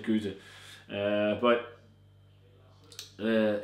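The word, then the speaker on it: gueuze: goose there's so like it depends on where you're located in Belgium the way you pronounce it I've always said go uh but uh it's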